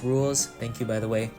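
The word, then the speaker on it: Rouxls: rules is boss battle it's pronounced rules thank you by the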